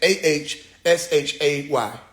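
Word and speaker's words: Àṣẹ: AHSHAY. And I'm not saying that's the spelling. That's the pronunciation.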